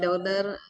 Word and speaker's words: daughter: Chocolate cake for my daughter birthday. For my daughter's birthday. Do you have any chocolate milk? Ya, udah benar ya. Nah, tapi pronunciation-nya untuk daughter, jadi GH-nya nggak usah dibaca, Kak. Oh, good.